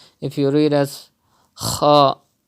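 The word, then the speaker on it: ح: You have to pronounce Ha from the middle part of your throat. If you read it as a Ha, not correct. If you read as Ha, it's also not correct.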